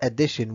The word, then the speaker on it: addition: So let's see about addition 1 and 2's review. As you remember, we learned that addition has three syllables.